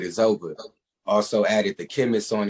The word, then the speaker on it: Izova: and he was like man your name should just be it's over and uh the spelling was different but i wrote it down start playing with the the words i changed the the the pronunciation and i changed the uh the spelling and i came up with is over also added the chemist